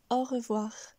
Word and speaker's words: au revoir: le deuxième mot revoir ce qui est intéressant ici c'est que l'on commence et que l'on termine par le son r re voir avec cru le son est stable puis nous avons voir où la voix monte heureux voir on dira donc au revoir nous voilà finalement à